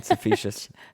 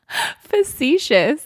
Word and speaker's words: facetious: exciting are you being sufficient wait what did I say that right no how do you say it facetious you said sufficient he's just it sounds